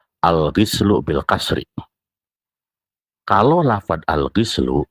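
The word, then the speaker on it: الغُسل: Karena buktinya dari kata al-ghuslu, dan al-ghislu saja itu bisa berbeda makna. Jadi al-ghuslu untuk mandi secara keseluruhan tubuh, kemudian al-ghuslu itu untuk mandi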